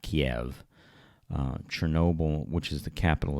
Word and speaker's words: Kyiv: I guess that's pronounced Kyiv now, not Kiev.